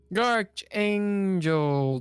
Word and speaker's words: Archangel: Archangel, do you pronounce it with a CH or a K sound?